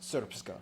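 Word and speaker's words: Srpska: It's pronounced Serpska.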